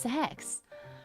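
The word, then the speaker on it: CeX: Yeah, because the store is pronounced sex.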